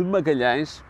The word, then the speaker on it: Magalhães: O nome de Magalhães não é fácil de pronunciar por estrangeiros. Era assim que ele assinava, como podem ver registado nos documentos da época. Pela dificuldade de dizer as vogais nasaladas e fechadas, Fernão de Magalhães, o